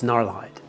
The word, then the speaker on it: Gnarlhide: Do you pronounce the G or is it mute? Gnarlhide. This sounds weird, so it's Gnarlhide.